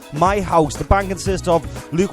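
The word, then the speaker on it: Meihaus: The band is actually spelled, it's called My House, but it's spelled M-E-I-H-A-U-S. And I'm so glad I got in touch with them, because what I was originally going to call them was Meow House.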